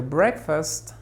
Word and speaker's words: breakfast: Park lo repetimos after Breakfast Breakfast no digas Breakfast Breakfast no la sílaba tónica es break Fast se pronuncia muy sutil es una pronunciación débil Aquí hay una shua